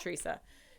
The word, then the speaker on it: Teresa: I always call her Tresa because it's phonetically spelled Tresa, but it's Teresa.